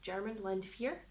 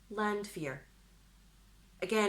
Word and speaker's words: Landwehr: comments section below, but I'm pretty sure it's Landwehr, because it's a W in German, Landwehr. Landwehr. Again, ignore my Scottish accent, but I'm going to go with Landwehr.